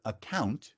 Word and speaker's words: account: open an account now the word account is a two-syllable word